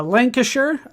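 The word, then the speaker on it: Lancashire: Uh Lancasher, that's how I've been told to pronounce that is over here.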